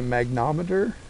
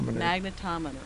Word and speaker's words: magnetometer: So, you know, this is a magnometer. Is that how you pronounced it? Magnet. Like a magnettometer. T O magnet. Magnet. Magnetto. Magnetometer.